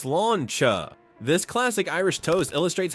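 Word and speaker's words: sláinte: In an Irish pub, you may hear the term slánte, pronounced sláncha.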